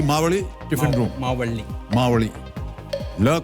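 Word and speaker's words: Mavalli: आपका बहुत ही सर इसका इसका उच्चारण कैसे होता है मुझे बता मावल्ली मावल्ली बहुत ही फेमस जी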